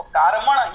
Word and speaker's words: कार्मण: देखिए, औदारिक वैक्रियिक आहारक तैजस और कार्मण है ना, कार्मण बोलते हैं बहुत लोग। तो कार्मण ये शुद्ध उच्चारण है, हम यही करें।